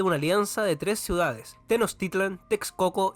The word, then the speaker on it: Tenochtitlan: América que le decían Tenochtitlan ahora lo pronunció bien porque yo le decía Tenochtitlán debía haber padecido un